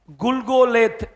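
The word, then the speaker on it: גלגלת: Golgotha என்பது எபரய பாஷை இந்த கொல்கோதா என்பதை எப்படி உச்சரி ப்பங்க அப்படின்னா குல்கோலேத் குல்கோலேத் என்கின்ற எபரய அந்த வார்த்தையில்தான் கொல்கோதா கொல்கோதா அல்ல கொல்கோதா என்கின்ற வார்த்தை வந்துச்சு அதுல பாத்தீங்கனாக்க குல்கோலேத் அப்படின்னா ஹெட்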